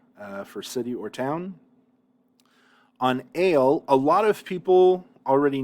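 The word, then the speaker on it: אֵל: the word for God, we usually say el. The reason why I distinguish here ale is because you got to remember that this is a sere. The word for God, its dictionary form has a sere. And so I say here, note, this is a sere, not a segel.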